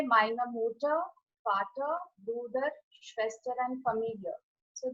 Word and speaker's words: Vater: Noted for Vater, it is V-A-T-E-R, and I'm saying Vater.